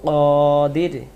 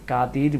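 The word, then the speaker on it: القادر: আল কাদির, আমরা অনেকে কাদির বলি, কাদির না, কাদির।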